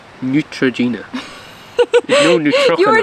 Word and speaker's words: Neutrogena: over Neutrogena Neutrogena guys Neutrogena that's how you say it it's Neutrogena no neutr you were